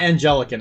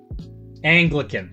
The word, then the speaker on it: Anglican: I know it's not angelican. I actually forgot how to say it. Um Anglican.